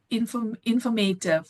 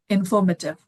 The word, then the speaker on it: informative: struggle to, for example, we tend to say informative. Yeah, we in India we say informative, but the correct pronunciation is informative.